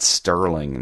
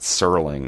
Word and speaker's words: Serling: I said Rod Sterling not Serling.